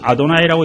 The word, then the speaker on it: 아도나이: 근데 후대 사람들이 그걸 모르고 그걸 그대로 읽어 버려. 기역기 미음이랑 오우 이러 한꺼번에 읽어 버리니까 고구미가 돼 버리네. 그래서 그냥 하느님의 고구미가 되고 여호와가 돼 버렸어요. 뭐 그렇다고 치고 어떻든 주님이라고 읽는 것이 아도나이라고 읽는 것이 옳은 태도입니다.